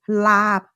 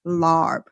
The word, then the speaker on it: larb: And then I taught them how to make lab, and it went viral with the sign that I wrote, pronounce it lab, not larb.